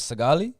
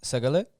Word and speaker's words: Saagalee: My name's Saagalee. Yeah. In my background, where I'm from the land of Oromia, Yeah. and how they say it's Saagalee, Yeah.